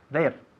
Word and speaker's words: they're: There. ¿ok? Es there, igual que there de allí. Se pronuncia exactamente igual.